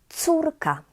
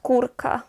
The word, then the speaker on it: córka: So this is córka, córka, not kurka, remember, because actually kurka, it is a word, it exists, and it means a small hen, a small chicken.